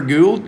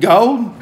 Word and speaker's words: Gould: was chad is it gould gould gold it ain't gold pat's tree removal service